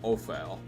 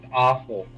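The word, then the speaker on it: offal: eat something strange so just dirt slime or ophile what the hell is opal that's a good question i don't know just eat your clothes um organs specifically animal bases oh so awful that's pronounced awful oh my bad so now you're good you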